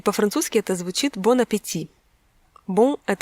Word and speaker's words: bon appétit: английском языке говорит кому-нибудь «bon appétit». Причем американцы, они часто неправильно произносят эту фразу, и можно услышать «bon appétit».